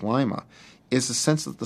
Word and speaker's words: Lima: It was named for the capital of Peru, and then, typical for the Midwest, took on its own pronunciation. At a glance, Lima is the picture of small-town America.